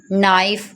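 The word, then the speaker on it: knife: Friends इसमें के silent हो जाता है, कुछ वर्ड्स ऐसे होते हैं जिनमें के साइलेंट हो जाता है, जैसे ये नाइफ लिखा हुआ है, इसे हम नाइफ नहीं पढ़ेंगे बल्कि इसे नाइफ पढ़ेंगे।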